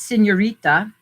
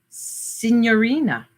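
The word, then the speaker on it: signorina: villa villa senorina s-i-g-n-o-r-i-n-a senora not senorita senorina just so you know i'm saying it right senorina which other one did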